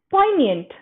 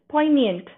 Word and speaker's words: poignant: somebody answer is c poignant we don't pronounce this g g is silent poignant competitive talks no light